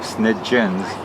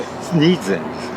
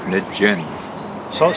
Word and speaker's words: Sniedzins: And so SNIEDZINS, and there's a G sound in there as opposed to SNIEDZINS. Right? So SNIEDZINS is more or less how you would normally pronounce it, but I pronounce it SNIEDZINS.